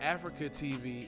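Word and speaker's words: AfreecaTV: Well, that Africa TV is weird because it say Africa TV. It's spelled AFREECA TV.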